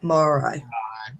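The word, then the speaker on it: Māori: Now, I don't know if I'm going to pronounce this right, so help me out here. Morai. Yep, Morai.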